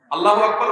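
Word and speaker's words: الله أكبر: আল্লাহু আকবার উচ্চারণ করার সময় আকবরের রাকে টেনে পড়া ঠিক হবে কিনা? না, ঠিক হবে কেন? তাকবীরের সাথে বলতে হবে আল্লাহু আকবার, আল্লাহু আকবার, এরকম বলা যাবে না।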